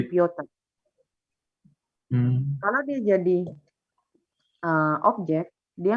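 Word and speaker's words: Пётр: Tapi karena ini ke bahasa Rusia jadinya bacanya Piotr.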